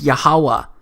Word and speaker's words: Yahweh: But this YHWH, it's pronounced as Yahweh, because it turns out that the language was so simple back then that it vocalized each consonant with an ah sound without specifically marking that sound between consonants.